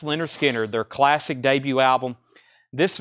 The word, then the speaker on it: Lynyrd Skynyrd: records money can buy Leonard Skynyrd pronounced Lynyrd Skynyrd their classic debut album